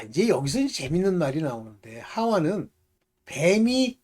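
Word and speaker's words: חוה: 그래서 아담은 그 아내를 하와라 이름하였으니 모든 요게 이제 그 헬라말이나 저 헬라어나 히브리 말로는 이게 하와 이렇게 발음하지만 실질적으로 영어로 하면입니다.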